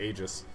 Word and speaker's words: Aegis: his method I mean it's definitely aegis what if I just